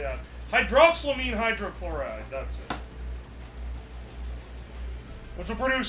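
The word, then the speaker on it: hydroxylamine hydrochloride: you say that how do you say that hydroxyamine hydrochloride that's it which will produce salt water and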